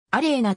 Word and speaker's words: アリョーナ: ジュニアグランプリファイナル 1 アレーナと発音することもある本人はある